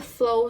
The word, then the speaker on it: Flo: time in your life I'm hearing the Flow song Summertime it's pronounced f-l-o um they have a